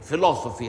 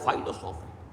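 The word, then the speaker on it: philosophy: منطق پر مبنی ہے، فائلوسوفی، فلسفی ہم اسے کہہ دیتے ہیں، لیکن بنتا ہے وہ فائلوسوفی۔ تھیوسوفی، تھیو مذہب کا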